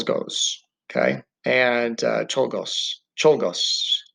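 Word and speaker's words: Czolgosz: okay and uh togos cholgos that's how you say it leon told tolgos uh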